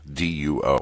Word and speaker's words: DUO: This section includes the Memorandums of Understanding regarding Delivery Unit Optimization, DUO, D-U-O. I'll pronounce it DUO if it comes up again.